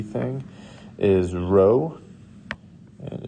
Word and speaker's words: rho: is uh pronounced this little p thing is rho and it's spelled that way r h o and then